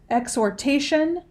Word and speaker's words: exhortation: heard her father's encouraging exhortation to keep going. And it went from Latin to French to English. The alternate pronunciations, there's exhortation, exhortation, exhortation, and exhortation. Can you repeat the word?